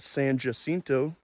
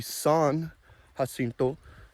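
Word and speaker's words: San Jacinto: can't blame them cuz in Texas we have the Battle of San jinto jinto it should be hinto it should be son hinto and so anytime you say San versus son it's incorrect but I don't know I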